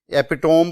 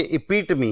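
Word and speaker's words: epitome: ये word 32 number है और इसको अक्सर स्टूडेंट्स आप में से एपिटोम पढ़ेंगे या एपिटोमी पढ़ेंगे, लेकिन ये इपीटमी है और इसकी प्रोनाउंसिएशन क्योंकि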